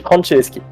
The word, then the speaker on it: Franceski: Ça se dit Franceski.